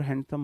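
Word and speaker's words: handsome: हैंडसमर हैंडसमेस्ट बनेगी या मोर हैंडसम? Most हैंडसम बनेगी। इसमें डी को बहुत लाइट प्रोनाउंस करते हैं। हैंडसम बोलते हैं इसे।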